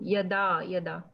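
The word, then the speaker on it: yadā: So like you see the line above A, it's pronounced A. So yada.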